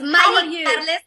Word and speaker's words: Mayi Carles: You pronounced it really well. I was close. It was really close. Mayi Carles, the Panamanian version, but you almost got it perfect.